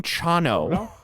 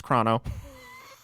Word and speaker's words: Chrono: why does my Chrono I'm saying Chrono are you getting chano maybe he meets Chrono yeah knows how you say it no it's it's Chrono but anyways yeah I'm not saying chano at the very least